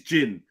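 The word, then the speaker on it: djinn: the films because he's he's his name is Jin spelled d-j-i-n-n yeah that's how you spell it yeah yeah of course yeah and he's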